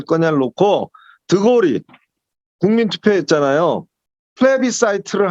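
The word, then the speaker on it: plebiscite: 이거는 영어로 플레비사이트라고 그래요. 전 세계가 똑같겠습니다. 플레비시트라고 읽을 수도 있고 플레비라는 건 민중이라는 뜻이거든.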